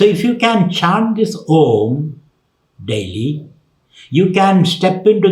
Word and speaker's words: Om: Om is made up of 3 syllables. A, U, and Ma.